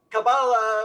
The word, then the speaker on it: Kabbalah: So Kabbalah it's kind of different people put the emphasis in the different syllable. It could be Kabbalah or Kabalah. And I tell you the truth, I go back and forth.